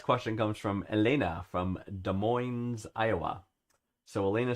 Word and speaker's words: Des Moines: You do not pronounce the S in Des Moines. All right, my bad. Yeah, I did get Des Moines.